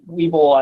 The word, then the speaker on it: Weibull: a french canadian guy who pronounced it weeble as bible and it was kind